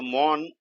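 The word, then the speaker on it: mourn: look at this one m-o-a-n-mon and m-o-u-r and mon these two these two sound the same actually so mon and mon okay so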